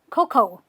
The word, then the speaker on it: cocoa: is actually called a cocoa this a really has no use okay this a is useless you don't have to use it you simply say coco there's cocoa in my